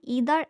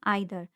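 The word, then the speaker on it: either: आइदर को हम ईदर एंड आइदर दोनों तरीके से प्रोनाउंसिएट कर सकते हैं।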